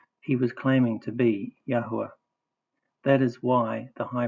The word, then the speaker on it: Yahweh: Steven pronounced our creator, the father's name, Yahweh.